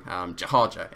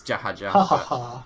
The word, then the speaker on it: Jahaja: And next week we will be facing Jahaja is how I like to pronounce it. It's Jahaja. Yeah, there's lots of interpretations, but my one is Jahaja. I think that sounds the best for me, but they can dispute